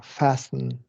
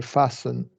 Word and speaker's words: fasten: Yeah, so it's you got to be fasten, or swiftness. Is that right? Yeah. So you don't say fasten. We say so. If you read on, the T is silent in these.